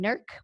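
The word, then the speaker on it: NERGC: england regional genealogical consortium we lovingly call them nerc the g is silent um they again are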